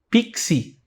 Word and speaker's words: pix: Se você for do Rio de Janeiro, provavelmente você fala: "Me faz um pix". Pixi. Coloca um i no final do X. Aqui em Belo Horizonte a gente fala pix, fazer um pix.